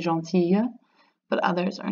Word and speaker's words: gentille: And then gentil becomes gentille with that double L. And you have to make that nice Y sound in certain regions of France.